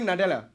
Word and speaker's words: Nadella: How do you pronounce it? Satya Nadella.